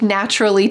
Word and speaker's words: naturally: that I could speak naturally too. Let's take a look at this lovely word, naturally. Interesting, there is a C, but listen to how it sounds. Naturally. It sounds like a CH.